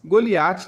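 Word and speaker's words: גלית: Goliat na pronúncia hebraica.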